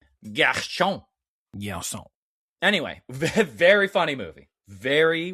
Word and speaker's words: Gershon: Yeah, I believe it's pronounced Gina Gershon. Gershon.